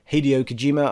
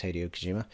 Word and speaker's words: Hideo Kojima: the new game by Hideo Kojima I've probably pronounced his first name wrong I think it's Hideo Kojima Hideo Kojima and he was the